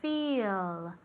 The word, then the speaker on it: feel: To feel. To feel. Repeat. Very good. Como si fuera con una I larga. Feel.